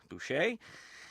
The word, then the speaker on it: Boucher: Is it Boucher? Yes. Anna, what is this word? Anna Oh, Sandy, you're going to have to pronounce that the right way.